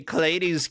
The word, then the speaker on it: Klades: it clades I say clades gets with the ladies or with the gents